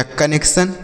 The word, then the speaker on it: connection: बच्चों यहाँ पर डबल यन है इसलिए एक यन साइलेंट रहेगा, तो यह हो गया कने। और C से आधा का और TION को सन, तो यह हो गया कनेक्शन। क्या हो गया बच्चों?